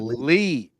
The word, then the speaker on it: Lea: Lee last name isid Lee there we go I know I know looks like Leah but pronounced like Lee I I should have